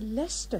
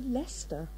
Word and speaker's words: Leicester: it there was the lost data and the Leicester hotel on the other side of the square which you write to well I must confess I think it was the Leicester darling you really are hopeless I'm sorry these